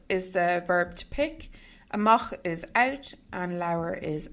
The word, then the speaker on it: amach: in English, Pioch amach, so it's kind of like to mock somebody, amach, Pioch amach leabhar.